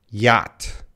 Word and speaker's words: yacht: very different sorry you pass three questions sorry yacht yacht yacht yeah that's that's a tricky word